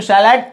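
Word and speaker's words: salad: ठीक है, इंग्लिश में सैलाड प्रोनाउंस करते हैं इसका, वैसे सलाद जो हम कहते हैं।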